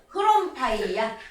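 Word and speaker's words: ῥομφαία: 이때는 발음을 넣어야 됩니다. 그래서 크롬파이야. 따라해 보십시다.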